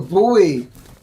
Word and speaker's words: buoy: am i wrong a buoy oh a boy i thought he said the boy that's how they're pronounced they're boys because they're buoyant isn't you don't say